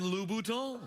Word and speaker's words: Louboutin: How about their giant floppy red shoes are made by Christian Louboutin? Made by who, Jeffrey? Christian Louboutin.